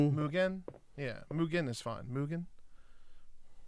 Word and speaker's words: Mugen: I know in Japan it'd be Muggin. Be pronounced a little bit different. Mugin. Like they say differently.